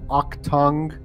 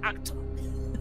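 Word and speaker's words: Achtung: U2's putting on is called the Octung Baby Live at Sphere.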